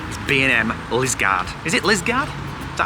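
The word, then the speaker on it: Liskeard: Is it Lisgard? Is that how you pronounce it? Lisgard, yeah.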